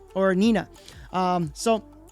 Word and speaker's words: Nena: deck was um uh Nena or Nina. Um so, in Spanish it's n e n a which is just means Nena which means a girl.